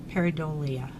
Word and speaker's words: pareidolia: our nice but anyways that is called Perry though I'm gonna mispronounce it but there's a pronunciation right there for you peridot Lee pareidolia and that's what it's